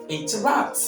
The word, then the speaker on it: interrupt: Entertain Entertain number four engineer engineer number five interrupt interrupts number six afternoon afternoon the word should not be pronounced as afternoon or afternoon number seven days